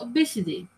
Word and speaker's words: Abcde: Redford said that was when she overheard a staff member making fun of ABCDE, pronounced obesity.